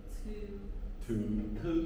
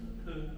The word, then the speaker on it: Thư: Because my name in Vietnamese is hard for you to pronounce. Say it in Vietnamese. Thư. Yeah. Thư.